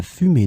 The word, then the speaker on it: fumée: In this lesson, we will see together two words that are written differently but pronounced the same way. Fumer, fumer. So let's start with the first one, fumer, and we'll have two examples. La fumée noire s'élevait dans le ciel, signalant un incendie.